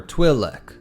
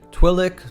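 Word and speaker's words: Twi'lek: words twin leu or twilele. A quick side note here about the pronunciation. Twilic, twile, and twile are all canonically correct ways to pronounce their species.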